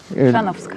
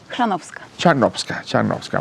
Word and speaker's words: Chrzanowska: Chrzanowska. Yo nunca podría pronunciarlo. ¿? Chrzanowska.